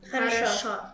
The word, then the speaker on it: хорошо: Хорошо.